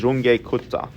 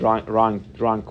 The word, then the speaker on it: Runge-Kutta: with this numerical method its german pronunciation is runge-kutta i've actually searched this but most people here call it wrong drunk or ranch kuta are we familiar with